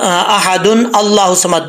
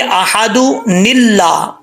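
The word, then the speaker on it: احدن اللہ الصمد: رہے ہیں، تو پھر اکثر لوگ جو پڑھتے ہیں یہاں پہ بہت بڑی مسٹیک کرتے ہیں، احد، احد اللہ صمد پڑھتے ہیں. ایسا نہیں پڑھنا. پھر اس کے نیچے نون پڑھا جائے گا چھوٹا. کیسے پڑھیں گے؟ احد نلہ، احد نلہ الصمد. ٹھیک ہے، احد اللہ الصمد نہیں پڑھیں گے.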